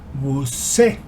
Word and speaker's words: busqué: Busqué. The pronunciation of the infinitive form of the verb is buscar.